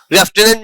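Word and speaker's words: lieutenant: उसी तरह से लेफ्टिनेंट लेफ्टिनेंट में कहीं भी एफ नहीं होता है। राइट? इसका spelling L आई ई यू टी ई एन ए एन टी है।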